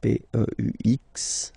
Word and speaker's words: peux: Okay, P-E-U-X. Okay, you don't pronounce the final X.